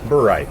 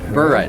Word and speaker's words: Burright: Did I pronounce that right? Burright. Burright.